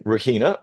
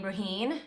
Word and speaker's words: Raheen: So this morning we have got the amazing Rahina from Brandify joining us. Morning Rahina. How are you? I'm good. So yeah, I pronounced my name Raheen.